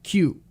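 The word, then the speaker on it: 休: And then we've also got kyu, which is rest. That's the onyomi. Kyu. Next one we're going to look at is before.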